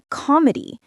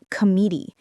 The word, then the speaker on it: comedy: For example, say comedy, not comedy. The stress is on the first syllable.